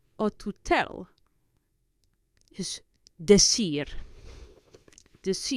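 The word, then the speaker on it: decir: or the so the to say or to tell this the ear I are the sear so again to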